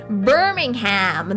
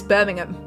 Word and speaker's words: Birmingham: The difference, like Birmingham, that's how they pronounce it, right? No, it's Birmingham. Cut out like half less Birmingham.